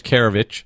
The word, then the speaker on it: Keravich: the man the myth the legend um james karevich is that how you pronounce it by the way yeah because i